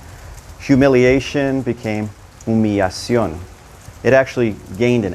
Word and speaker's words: humillación: Now, two L's in Spanish are going to sound like a Y. In some areas, they may pronounce it more like a soft J, like yo or Joe, but it doesn't have an L sound anymore.